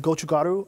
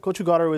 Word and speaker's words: gochugaru: So we take the egg yolk, submerge it in salt, sugar, and gochugaru. Gochugaru is a Korean chili flake.